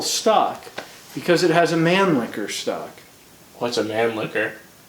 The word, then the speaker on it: Mannlicher: I guess the guy who designed it or styled it or something, it was his last name was Mannlicher. Licher, Yeah, not liquor.